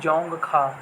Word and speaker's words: जोंगखा: ठीक है, डी यहाँ पे साइलेंट है तो इसका राष्ट्रीय भाषा हो जाएगी जोंगखा।